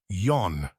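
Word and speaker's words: 四: in new buildings actually digit 4 is considered to be unlucky in Japan due to its pronunciation she that resembles the word death but that's not the only way to say digit four you can also say yon which is pretty cool what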